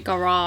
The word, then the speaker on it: garage: as i would say garage but you know what i don't know how do you say it garage yeah garage they say garage yeah okay they just pronounce it a bit more extend it you and me this